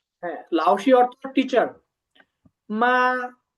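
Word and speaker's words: 吗: শব্দ আসি মা এটা এইযে নিউট্রাল টোনে আছে আমরা শিখছিলাম না যে মেন একটা টোন ছাড়া একটা কোণ আছে সেটা হচ্ছে নিউট্রাল টোন এর উপরে কোন টোন নাই তার মানে এটা নিউট্রাল টোন এটা উচ্চারণ স্বাভাবিক হবে মা মা হ্যা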